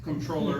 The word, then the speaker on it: comptroller: So uh the number one question that we get however is how to pronounce controller and where does that word come from?